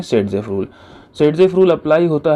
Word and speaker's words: Saytzeff: हालांकि नाम में देखिए थोड़ा सा स्पेलिंग का चेंज है। यह बेसिकली एक रशियन साइंटिस्ट थे जिनके नाम का प्रोनंसिएशन सेडजेफ बनता है।